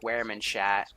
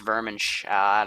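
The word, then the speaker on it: Wehrmacht: know why it does cuz I pronounce Wehrman shat even though it's vermin shot or whatever the heck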